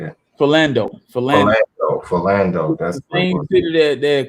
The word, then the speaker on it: Philando: let a police officer walk after he killed Fidel. Did I say his name right? Yeah, I think that's how you say it. Philando.